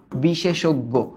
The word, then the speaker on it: বিশেষজ্ঞ: দেখো এটার উচ্চারণটা কি? বিশে, আগে বলি বিশে, তারপর কি বলি? সোগ, বিশে সোগ, তারপর আমরা কি বলি? গো, বিশেষজ্ঞ।